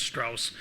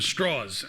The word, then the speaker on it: Strauss: except Strauss lived in Virginia where people couldn't pronounce Strauss so they called him straws and so he's known as Louis straws um